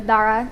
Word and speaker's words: Dara: My name is Dara, or Dara is how you actually pronounce it.